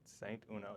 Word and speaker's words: Saint Uno: Saint Uno, just how it's spelled.